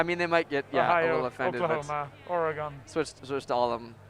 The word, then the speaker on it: Oregon: are still the oregon fans out there right oregon i said it right this time okay good